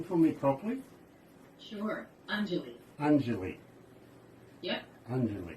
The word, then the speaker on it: Anjali: So, can I get you to pronounce that again for me properly? Sure. Anjali. Anjali.